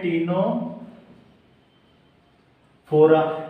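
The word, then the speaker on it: Ctenophora: एक और होता है टिश्यू लेवल में, उसको बोलते हैं टीनो फोरा, इसमें भी सी साइलेंट होता है।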